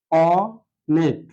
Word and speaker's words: অনেক: এখন আমরা এটা দেখলে আমরা বুঝতে পারবো অনেক যে শব্দটা আছে আমরা কখনো অনেক বলি না, আমরা সকল সময় অনেক এভাবে উচ্চারণ করি, অর্থাৎ অনেক। এখানে লক্ষণীয় বিষয় অ এর মতো রয়েছে, যার কারণে এটা হচ্ছে বিবৃত, বিবৃত উচ্চারণ।